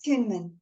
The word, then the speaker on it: Tuinman: Is that the right way to pronounce it? Yeah, yes, Tuinman.